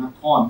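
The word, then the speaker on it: นคร: And the word Nakhon or Nagara, in Thai language we pronounce Nakhon. Nagara is Bali and Sanskrit, means city and town.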